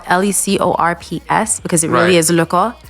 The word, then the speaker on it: Lecor: just talking off the mic that it's French, and I speak French, so I'm trying to get it as close as possible. It's Lecor. Lecor.